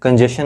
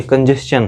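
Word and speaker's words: congestion: रहा हूं, कंजेशन, ठीक, कंजेशन नहीं है, कंजेशन है, ठीक। यानी TION के पहले जब यस आएगा तो इसका उच्चारण चन से होगा, ठीक।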